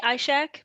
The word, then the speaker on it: Ishaq: to uh interview ishaq actually i'm not sure if i'm pronouncing your name did i get that right uh i say i shack because it's a little bit more phonetic but it's um a